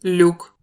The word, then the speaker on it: Люк: Mais Люк, ne se prononce pas L, Y ou K, il y a bien 3 sons. Le premier son du mot est un L mou, le.